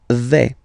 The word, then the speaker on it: vais: The first form is je vais. Okay, so remember, final S not pronounced here. Je vais. Okay, when you combine this A-I, you get the sound est, really open, ok?